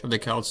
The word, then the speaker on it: Celt: Outside of basketball and soccer, usually these days we pronounce it Celt.